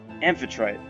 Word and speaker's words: Amphitrite: How is it pronounced? Amphitrite.